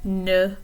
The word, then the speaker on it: ne: But when people speak pretty quickly, they tend to sort of swallow this ne.